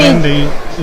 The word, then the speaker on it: Nadi: Nandi is spelled Nadi because you've got an N before a D.